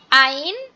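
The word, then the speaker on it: ع: হচ্ছে কি, একটা হচ্ছে আইন আর একটা হচ্ছে হা। আইন হা, আইন হা, এই 2টাই গলা চেপে উচ্চারণ হবে, খুবই গলা চেপে ফ্যাস ফ্যাস আওয়াজে উচ্চারণ হবে আইন হা।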